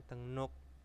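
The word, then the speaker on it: 등록: ada deng nuk nah e tulisannya dengruk bacanya tenguk Nah tenguk itu adalah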